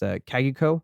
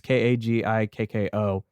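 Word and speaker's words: 鍵っ子: In Japanese, I think it's pronounced Kagiko. So it's Kagikko.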